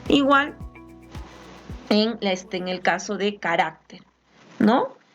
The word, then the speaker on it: carácter: Igual en el caso de carácter, ¿no? Carácter está acá, la sílaba tónica, la mayor fuerza de voz está acá en esta sílaba, hará carácter.